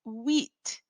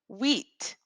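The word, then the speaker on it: huit: number eight in French it's wheat wheat now you'll notice that we're saying a word that sounds like it has the W sound in English we would use maybe w h e a t that might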